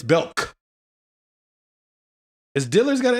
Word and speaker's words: Belk: No, Belk is just, wait. How you say it. Is apostrophe S. We thought it was an apostrophe S. It's just K. It's not. Yeah, it's K. Just Belk.